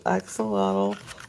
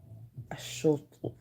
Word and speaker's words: axolotl: And then this is a little axolotl, which is not actually pronounced axolotl, my friends. Do you know? Do you know how to pronounce it? It's like a shultl, a shultl.